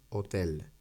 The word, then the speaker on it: hotel: que quede más nativo la pronunciación no es no son a el hotel sino que la l se pega a la o vale la h recordad que es muda por lo tanto es